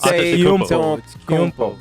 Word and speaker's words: Antetokounmpo: That's toe in the middle that I always miss. I always miss that the toe because the koumpo, like it's K-O-U and you pronounce the U. Yeah. Yeah, and then there's the N that's silent, and then it's How